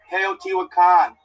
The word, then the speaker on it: Teotihuacan: Teotihuacan. Yes, my man. Teotihuacan. Thank you. Thank you for that. That's the main city of Maya. Teotihuacan.